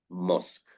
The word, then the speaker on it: mosque: And there are many words with Q-U-E, but they are pronounced like the letter K, mosque. Yeah, not mosque. Yeah. If you say mosque, no one would understand what you're talking about. So we need to understand how to say mosque.